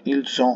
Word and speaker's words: ils ont: এখানে কিন্তু খেয়াল রাখবেন ils ont হবে, ভাওয়েলের আগে এস আছে, দুইটা উচ্চারণ চয়ের মতো হয়, ভাওয়েলের আগে কনসোনেন্ট থাকলে ils ont pu, তারা করতে পারতো, কারিম a pu, কারিম করতে পারতো।